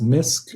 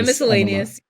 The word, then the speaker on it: Miscellaneous: And you also have, is it pronounced MISC, or do you say miscellaneous? Yeah, miscellaneous.